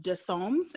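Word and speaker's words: Dessommes: i've been pronouncing this it's a french name d-e-s-s-o-m-m-e-s-o dissolves any losers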